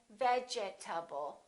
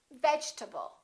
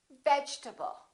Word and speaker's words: vegetable: case the e is dropped we don't say vegetable a lot of my students say that your table or vegetable this e disappears and this a is reduced because it's part of the unstressed syllable and we say vegetable vegetable let's look at a